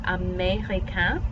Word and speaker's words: américain: Then 11, you have américain. This E with this accent mark is a long A sound.